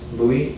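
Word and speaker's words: Luy: in 624 fairlawn parkway my name is louis spelled l-u-y and i'm coming to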